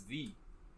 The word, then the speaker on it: ye: Yeah, you're supposed to pronounce ye when it's written like that as the.